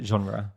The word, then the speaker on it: genre: Yeah, we try to say it like the French. I don't know how the French actually say it, but we say genre.